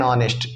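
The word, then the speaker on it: honest: अब जैसे देखो डैश ऑनेस्ट बॉय, अब ऑनेस्ट बॉय है एन ऑनेस्ट, ऑनेस्ट क्यों, क्योंकि हम इसका प्रोनाउंसिएशन क्या कर रहे हैं, ऑनेस्ट, आ वाला आ रहा है ना कि क ख वाला आ रहा है।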